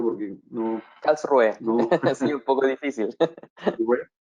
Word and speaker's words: Karlsruhe: Diego Cisterna es investigador asociado del Instituto de Tecnología de Karlsruhe en Alemania.